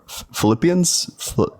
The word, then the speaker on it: Philippians: wait so in in uh Philippians uh four Philippians what's no Philip that's right you're saying it